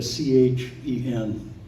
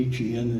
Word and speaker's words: chen: If I found favor, the Hebrew is chen, like a C-H-E-N. Everybody wants it to be H-E-N, they pronounce it hen, but it's chen.